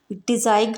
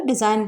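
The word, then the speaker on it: design: कुछ और एग्जांपल्स हैं डिज़ाइन, यहाँ भी एन से पहले जी आया तो जी साइलेंट है, इसको डिज़ाइन ना बोलकर डिज़ाइन बोलेंगे।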